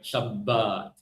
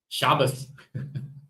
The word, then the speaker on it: Shabbat: on the right syllable, the Ashkenazi put the emphasis on the wrong syllable. Well, who's to say they're wrong, right? But they would put the emphasis on the first syllable, Sha, rather than the rest of us, right? Shabbat. And then they pronounce the tav as an S sound. Shabbos.